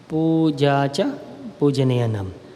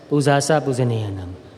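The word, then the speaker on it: pūjā ca pūjanīyānaṃ: Pujacha Pujaneyanam. We Burmese pronounce that as Pujasa Pujaneyanam.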